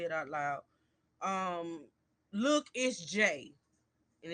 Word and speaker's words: LookItzJay: Um Look, it's J. And it's spelled LOOKITZJAY.